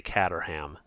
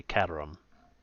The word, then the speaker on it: Caterham: In America here, we would say Caterham, but it's a British car, so I believe it's a Caterham. Kind of drop that H.